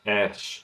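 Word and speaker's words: ř: The actual letter itself is pronounced ersh, but when you see it in a word, it's pronounced differently.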